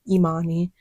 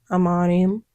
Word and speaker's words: Imani: and I'll be like, "No, it's pronounced Imani." Um, and they eventually would get it right. But there were other professors who just didn't care. They would just say, "Okay, I'm on him."